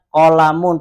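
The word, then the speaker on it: قلمٌ: Kenapa di sini jenengan bacanya qolamun pakai tanwin? Karena tidak ada alif lam.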